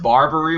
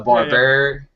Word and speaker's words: Barberi: I know I said Barbary when I sat down, and it's Barberi.